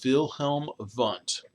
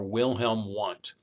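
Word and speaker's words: Wilhelm Wundt: by the name of wilhelm vent or wilhelm want if you speak any german a lot of w's are pronounced with these wilhelm vans okay he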